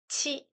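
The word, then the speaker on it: ち: 타행은 다 타 치 치 츠 츠 태 태 토 토 됐네요. 타서 살짝 헷갈리지는게 타티테토가 아니라 중간에 치압 발음이 들어가요. 그래서 타치 츠 대토 이렇게 됩니다. 됐죠?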